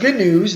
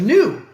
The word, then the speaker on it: GNU: So now you know why Stallman called his Unix clone GNU, because GNU's not Unix. He also insists on pronouncing it with a hard G. That's why I keep saying GNU instead of new.